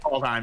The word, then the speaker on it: Kaldheim: Kaldheim, yeah.